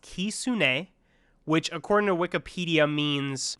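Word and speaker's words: Kitsune: I believe it's pronounced Kisune, which according to Wikipedia means fox in Japanese.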